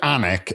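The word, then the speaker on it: Alnwick: um this is uh so we went to anic and I'll spell it because that's how we pronounce it in Newcastle it's a l n w i c k okay and it's called anic castle and we went to see the garden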